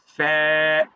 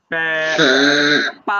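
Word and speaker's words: ف: অংশ ভিতরেরটা বিজ অংশ তো যখন ফা উচ্চারণ করব তখন সামনের উপরে দুই দাঁত নিচের ঠোঁটের বিজ অংশটাতে লাগবে ফ্যা পা হবে না পা এটা ভুল ফ্যা হ্যাঁ এইতো বুঝছেন হ্যাঁ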